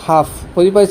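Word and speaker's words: half: ডি এফ কে M letter to থাকে তত হলে তৃতীয় হল a letter to direct automatically automatically কি হব এ লেটার টু সাইলেন্ট থাকিব পাই ফর এক্সাম্পল ফর এক্সামপল কি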